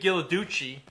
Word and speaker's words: Ghilarducci: yeah no it's not it's kind of like the chocolate only different you know we want